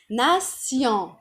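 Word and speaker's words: nation: هنا بقى في الفرنسي ناسيون. بصوا بضخم بس شوية بفتحها لان معلها تنطق وانا قلت لكم المقطع تي اي او ان ينطق سيون. يبقى ناسيون.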